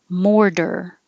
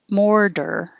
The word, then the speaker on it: mortar: The T changes to a D because it's between two voiced sounds. In this case, the or, the R, and the for mortar. You just keep your voice on the whole time.